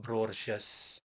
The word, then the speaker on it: Brorges: It's pronounced Borches.